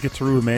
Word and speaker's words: Gitaroo Man: Like it's choreographed so well because in Gitaroo Man, it actually is pronounced Gitaroo Man.